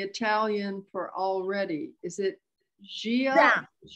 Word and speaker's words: già: That reminds me that I have one question of how to pronounce the Italian for already. Is it Gia? Già.